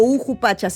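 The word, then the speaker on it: Ukhu Pacha: ¿Ucupacha o Ujupacha? Ujupacha. Ujupacha, así el se mundo pronuncia.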